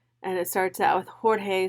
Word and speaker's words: Jorge: So the teacher is calling Jorge George instead of Jorge.